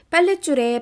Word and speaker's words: 빨랫줄: 사이시옷이 들어가면 이 사이시옷을 디귿으로 발음해도 되고요. 이 시옷을 아예 발음을 안 해도 됩니다. 시옷을 디귿으로 발음하는 경우가 요 첫 번째 경우고요. 아닌 경우가 두 번째 경우입니다. 둘 다 발음이 맞아요.